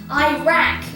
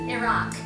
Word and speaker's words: Iraq: And it's the same thing with Iraq, which is commonly pronounced Iraq instead of Iraq.